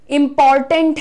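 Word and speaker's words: important: आपको ध्यान देना है इसको इस तरीके से बोलना है इंपॉर्टेंट अगेन साउंड ब्लेंडिंग है टिंट में इंपॉर्टेंट ट और न देखो टंट टंट शायद आप ऑनलाइन की वजह से इतना ध्यान नहीं दे पाएंगे लेकिन मैं ट और न को मिक्स कर रही हूं दिस इज वेरी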